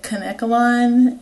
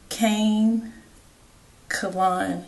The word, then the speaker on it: Kanekalon: for the record I've heard so many people pronounce it conolon and keka and all that it's Kane colon K colan um but anyway this is the